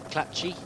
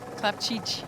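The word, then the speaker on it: Clapcich: Bianca nice Cook and Francesca Clapci. Clapci, yeah, you butchered that one at the... Oh, I did a terrible job at the... How do you say it? Clapchich.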